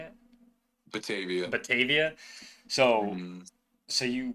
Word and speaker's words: Batavia: Batavia.